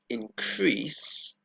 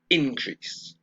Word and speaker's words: increase: now notice what happens here with the verb increase to go up the stress is on the second syllable okay okay now and then in the